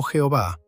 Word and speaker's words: Jehová: Las cuatro consonantes yod, he, vav, he, que tradicionalmente se pronuncian como Yahvé o Jehová y en la mayoría de las traducciones se sustituyen por el título Señor.